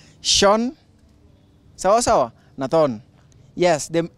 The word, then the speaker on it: Sean: So this is Sean, S-E-A-N. Why is it S-E-A-N and being spelled as being pronounced as Sean?